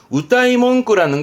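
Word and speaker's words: 歌い文句: 발음은 우따이몽끄라는 건 노래하는 문구라기보다는 이렇게 돼요.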